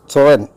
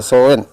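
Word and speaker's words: sollen: ആ അർത്ഥത്തിലുള്ളതാണ് മ്യൂസൻ പിന്നീട് സോ എൻ എസ് ഓ എൽ എൽ ഇ എൻ ആണ് പക്ഷേ ല ഉച്ചാരണം വേണമെന്നില്ല സോ എൻ പക്ഷെ ഷുഡ് നിർബന്ധമായും വേണം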